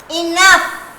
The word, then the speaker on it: enough: Enough. Enough. E-N-O-U-G-H. Enough. It's starting with E. Enough. Enough. Enough. Na means N. Enough. Up. O-U. And the G-H is silent.